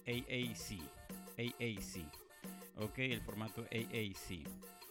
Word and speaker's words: AAC: Si lo pronuncias en inglés es el AAC.